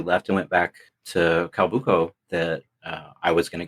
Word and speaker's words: Calbuco: So where exactly is, and you pronounced it Cambuca? Calbuco, Calbuco. Okay, so where exactly is that in comparison to Santiago?